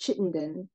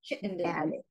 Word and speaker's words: Chittenden: I'll see well it it's actually pronounced Chittenden chitt and and it does come